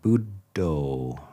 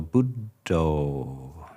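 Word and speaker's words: buddho: lay people is simply the word budo. So two syllables u the o on the end of Buddha is just an an a different form of the pi.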